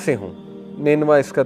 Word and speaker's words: نینوا: تو ادس نے کہا کہ میں نینوا سے ہوں۔ نینوا اس کا تلفظ ہے NINEVEH۔ نینوا جو ہے یہ عراق